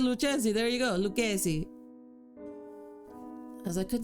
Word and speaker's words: Lucchesi: How do you pronounce that? Stop. Lucchesi. Oh, I was about to say Lucchesi. There you go. Lucchesi.